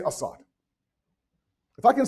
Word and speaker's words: Asad: It's not Asad, it's Assad.